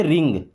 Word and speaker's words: wring: WRING, इसे पढ़ते रिंग। क्या पढ़ते हैं?